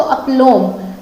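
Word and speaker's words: aplomb: तो अपलोम, बी यहाँ पर हमने क्या किया, बी यहाँ पर हमने कर दिया है साइलेंट, ठीक है। बी साइलेंट किया और बोला अपलोम, ठीक है।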